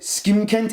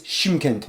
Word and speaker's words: Shymkent: I accidentally pronounced it Skimkent, it's Shymkent.